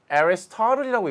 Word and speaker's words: Aristotle: 아리스토텔레스인데요. Aristotle이라고 읽습니다.